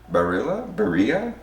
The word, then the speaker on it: Barilla: Barilla?